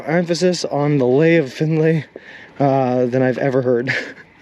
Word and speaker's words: Findlay: Is it a Lee? Why is there an A in there if it's a Findlay?